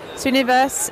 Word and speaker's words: Srinivas: Srinivas. Yep. I'm rubbish at pronunciation.